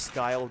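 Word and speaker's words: Skial: And yeah, I know it's pronounced Skyle, but Ski Owl just sounds 20 times funnier, so sucked in.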